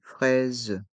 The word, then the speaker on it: fraise: des fraises une fraise ici les lettres a et i font le son e pra et le S de fraise est entre deux voyelles les voyelles I et E et le S a le son Z fraise et le deuxième s